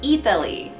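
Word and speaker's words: Eataly: to this place called a Pelle it's like Italy but it's spelled e ay tal Y and so it's pronounced eath le like I thought it's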